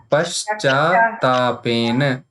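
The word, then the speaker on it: पश्चात्तापेन: Paschatapena. Paschat. There are two tas here.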